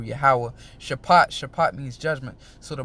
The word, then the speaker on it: Yahweh: In the Hebrew, Yahweh, all right, Shaphat, all right. Jeho, how they say Jehovah, all right, but his name is pronounced in the pure Hebrew, Yahweh.